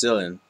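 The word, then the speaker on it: Cilan: S someone tried to correct me in the pronunciation it's not San it's sillin sillin I think it's just pronounced sillin sillin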